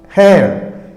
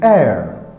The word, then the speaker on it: heir: Okay, so the words a, are, honest, hair, in all these h it comes first.